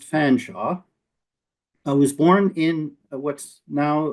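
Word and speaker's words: Featherstonhaugh: It's not Featherstone Hall, actually pronounced Fanshaw.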